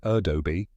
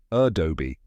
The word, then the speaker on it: Adobe: Then do, which rhymes with go. And finally, bee, like the buzzing insect. Now say it with me. A-doh-bee.